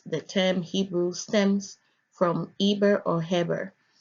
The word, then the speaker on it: Eber: term Hebrew stems from Eber or hammer Strong's age 5677 pronounces it as a ver they consonantal Biblical Hebrew